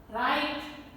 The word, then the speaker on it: write: So, letter W becomes silent when it comes with a combination of WR. Write, wrote, written, writing, playwright, wrestle, wrinkle, wrap, wrist and sword.